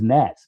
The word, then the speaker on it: gnat: How you get a G on the front of the word gnat? They don't have no G, but anyway, that's a whole nother conversation.